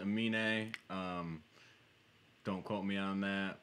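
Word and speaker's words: Aminé: I'm pretty sure you pronounce it Amine.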